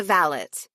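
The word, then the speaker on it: valet: She's a valot. She pronounced it so it rhymed with shallot. Blood bound to Gerard and his lineage. We were still staring at her. Vallet, Max echoed.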